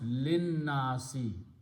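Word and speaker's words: لِلنَّاسِ: to a Nasi and you pronounce Lin Nasi instead of see don't pronounce this and this is written that way alif is not even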